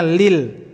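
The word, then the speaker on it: لِلْ: Itu bukan alif lam, tapi lamnya 2. Itu bacanya lil.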